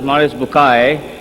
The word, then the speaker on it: Bucaille: a scholar of Quran Dr Morris bukail pronounced as Maris bukai I'm a right doctor